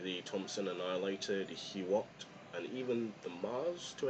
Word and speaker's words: Hout: So hope you learned something, and it's not HOOUT, it's HOOUT, because he is from Quebec, and of course they would pronounce HOOUT, and not HOOUT, because HOOUT is more of a Canadian sounding of the name, but he's from Quebec, so it is Joseph HOOUT.